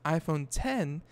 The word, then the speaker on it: iPhone X: will be called the iPhone X pronounce iPhone 10 via a reliable source